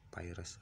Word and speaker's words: Pires: Bacanya ya Pires, Pires.